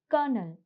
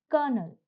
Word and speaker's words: colonel: The next word is kernel. Now, the spelling is Colonel, and even though you don't have an R here, but you have the R sound here. So, the pronunciation is kernel.